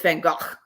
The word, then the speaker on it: Van Gogh: I still have an axe to grind with my dad about Van Gogh. Well, really, it's Van Gogh. Mm-hmm. But I'm gonna be that English speaking person and say I don't really like that pronunciation.